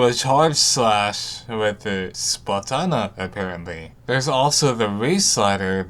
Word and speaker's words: Splatana: They covered a new special weapon called the Tacticooler and a new base weapon class called the Splatana, pronounced like katana, not banana.